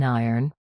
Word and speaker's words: iron: It sounds exactly like the word earn, as in earning money, with an I at the front.